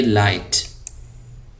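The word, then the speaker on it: light: यहाँ पे जी साइलेंट है, इसको हम पढ़ेंगे लाइट।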